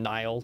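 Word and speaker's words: Niall: it's another POV from Captain Nile and that's the way that I'm going to pronounce his name uh of the white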